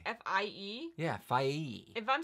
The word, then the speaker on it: Fie: I think her name is Fee. I've been calling her Fee, so if I'm saying it wrong... F-I-E?